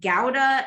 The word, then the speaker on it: gouda: rhyme so you know gouda or sometimes it's pronounced gouda if you know you have a dutch person which is where this cheese comes from um it tends to